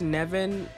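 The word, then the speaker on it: Nemain: with brown's initial persona nevin yeah apparently it's pronounced nevin i was not ready for that nevin is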